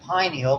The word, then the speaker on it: pineal: It's pronounced pineal because it looked like a pine cone.